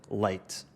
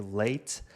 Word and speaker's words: leite: Já a palavra portuguesa lata escreve-se quase da mesma forma que leite, mas a pronúncia é diferente. Lata, leite.